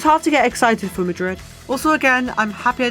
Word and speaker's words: Madrid: Vancouver velocity it's hard to get excited for Madrid also again I'm happy I did my research cuz I was very prepared to go into this video pronouncing it majri yeah that wouldn't have gone down would it